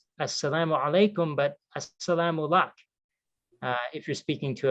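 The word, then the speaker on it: as-salamu alaykum: heard this quite a bit the the phrase assalamu alaikum this is how you say this is one way of extending a greeting in arabic for muslims as salaam alaikum it translates literally as peace be upon you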